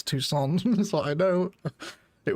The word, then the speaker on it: Tucson: I actually had a comment on the Isos episode the other day saying, "Egg, you're pronouncing toxin wrong. It's Tucson."